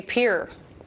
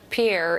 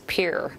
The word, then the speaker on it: Pierre: do you say it you say Pierre not Pierre it's Pierre here and it's on the